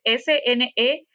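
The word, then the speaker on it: Skene: Batallo mucho, gente, para pronunciar esa palabra, es Sneke.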